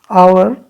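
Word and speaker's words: hour: आवर, आवर में H silent है, ठीक है।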